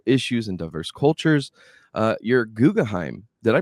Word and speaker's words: Guggenheim: You're Guggenheim. Did I pronounce that right? Guggenheim?